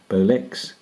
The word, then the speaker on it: Bolex: Now, the machines are superbly made, Swiss made, by the Swiss firm of Paillard Bolex, or if you use a French pronunciation, Paillard Bolex, and were designed to run on 110 volts, which of course is not the modern day voltage.